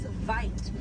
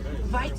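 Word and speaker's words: wyd: Original word for white rhino was vite. Vite means wide in Afrikaans, but over time it was misheard and mispronounced, and it turned into the white rhino.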